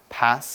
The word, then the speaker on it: pass: Now the first thing you need to know about pass is in different parts of the English-speaking world, we pronounce this word differently. So in America, they say pass, and also in parts